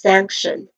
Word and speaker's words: sanction: Pronunciation wise, we have sank which has a short a vowel sound and a nasal sound ng sound basically. And then t i o non. So this is sanction.